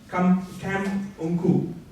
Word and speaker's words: Camp Unku: Yeah, this is a tutorial town called Camp Unku. Alright, it's called Camp Unku. It's spelled CAMPUNKU. Any of you get the pun in that? Try saying it fast. Kampungku, very Malaysian brand, alright?